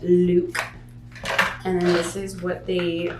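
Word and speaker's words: Lewk: over to Luke and it basically is look but it's spelled L e WK so you want to say that Luke and this is what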